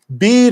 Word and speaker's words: Bede: the venerable bede yes I think it's pronounced bead but I like to